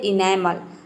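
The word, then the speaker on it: enamel: ठीक उसी तरह से है इनेमल, इनेमल इसको हम प्रोनाउंस करते हैं इनेमल।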